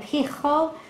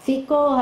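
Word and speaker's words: Phicol: Ahuzat is close to the Hebrew, and Pichol or Fikol, however you want to say it, depending on English or Hebrew, the commander of his army.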